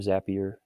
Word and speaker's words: Zapier: people use zapier zapier I'm not sure how it's actually supposed to be pronounced I would assume zappier since they're called zaps but anyways when properly mapped